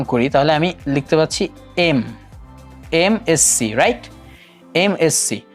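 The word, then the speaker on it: MSc: সো এই এম উচ্চারণের আমার স্টার্টিং হচ্ছে এ দিয়ে অথবা ই দিয়ে। এই কারণে আমাদের সাউন্ডটা, উচ্চারণের যে সাউন্ডটা, আমরা আগেই বলেছি আর্টিকেল কিন্তু সাউন্ডের উপর ডিনোট করা হয়। সো সাউন্ডটা আসছে এম, অর্থাৎ ভাওয়েল সাউন্ড দিচ্ছে।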